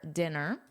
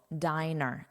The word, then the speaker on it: diner: Where are you dining tonight for dinner? And it's a noun representing people, diner. And in the plural, because it refers to all people, diners, diners. Let's review this sentence and pay attention to that pronunciation. The diners ate dinner at a diner.